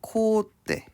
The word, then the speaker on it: 콧대: 코 플러스 대 하면 어떻게 적어요? 콧대라고 이야기를 하고요. 발음 기호는 코대 혹은 이제 콧대를 허용해 주게 됩니다.